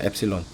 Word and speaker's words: 엡실론: 저 3자 거꾸로 한 것처럼 생긴 저건 엡실론이라고 읽어요. 엡실론.